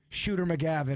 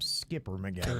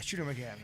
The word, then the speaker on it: Shooter McGavin: I think you called him Skipper McGavin. or something. Yeah, I messed up. Yeah, I think Shooter's right. Shooter. Shooter. Yeah, Shooter McGavin.